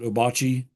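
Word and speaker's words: Ouabache: this map is the Bocce State Park, or some people call it Wabash State Park. It's actually the French spelling of the Wabash River.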